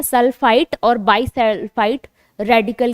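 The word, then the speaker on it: sulfite: ट सल्फाइड need, ठीक है, ड नहीं ट, ये प्रोनाउंसिएशन आप याद रखेंगे क्योंकि ये प्रोनाउंसिएशन आपसे नाम भी पूछ लेगा। तो सल्फाइट टी है, बाइसल्फाइट, अगर सल्फाइट है या बाइसल्फाइट है, देखो मैं ट बोल रही हूँ, प्रोनाउंसिएशन में बाइसल्फाइट और सल्फाइट ये होगा, तो आपको SO2 निकलती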